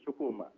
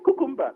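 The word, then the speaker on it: Chukwuma: Kukumba. You see what I said, mean? "No, my name is not Kukumba."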